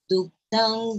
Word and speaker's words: दुग्धा: Yeah, this is dirgha.